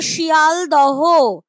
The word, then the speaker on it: শিয়ালদহ: উচ্চারণে হয়ে গেল ফলার আসল শব্দটা ছিল শিয়ালদহ তার থেকে হয়ে গেল শিয়ালদা এই যে ফলাহহার হ টা